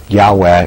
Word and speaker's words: Yahweh: Yahweh is a reconstruction of the most likely pronunciation, but by tradition it